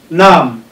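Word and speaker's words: numb: Don't forget, I said when we were treating the consonant sounds that when a word like this, N-U-M-B, is written, the B is silent, meaning you are going to have nam, nam.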